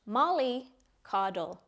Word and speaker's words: mollycoddle: It's pronounced mollycoddle, and it's a verb.